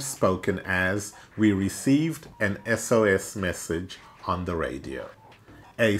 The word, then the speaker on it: SOS: as we received an SOS message on the radio. A save our ship message, an SOS message. This is because the consonant letter S is pronounced beginning with a vowel sound E.